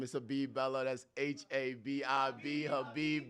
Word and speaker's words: Habib: That's H A B I B. Habib Bellow. Bellow, spelled like hello but with a B.